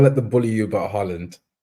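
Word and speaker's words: Haaland: all Tom don't let them bully you about Holland Holland Holland in fact is the correct way to pronounce it like that's how you that's how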